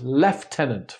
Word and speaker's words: lieutenant: In British English, it's pronounced lieutenant for some reason, even though it is spelt the same.